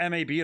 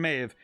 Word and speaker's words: Maeve: of May of Queen Maeve here the reason it says Maeve not m a b not mab it's because it is Celtic I actually read this myth I read about Queen Maeve Queen Maeve is the